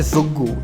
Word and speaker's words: Zoogu: तो आज की वीडियो के लिए इतना ही, और तुम जिस चैनल पे ये वीडियो देख रहे हो it's called ज़ुग्गू, that's how you pronounce it, ZOOGU।